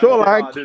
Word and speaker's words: Solanke: Solanke. I didn't know. Solanke. Blue eyes. It's pronounced like Who's that, yeah.